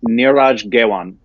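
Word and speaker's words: Neeraj Ghaywan: I believe the correct pronunciation is Niraj Gewan.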